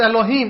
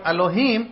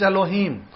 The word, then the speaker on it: Elohim: the word elohim but say it properly don't do it the distorted the distorted form is elohim what is the right form he so you get the meme sound in the end so um allahim do